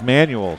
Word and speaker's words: Manuel: as does number three Elena Manuel same as manual so it's manual okay we're gonna go manually I just Amber Morin Morin if you're if I'm right on that manual is how you say it so we'll go with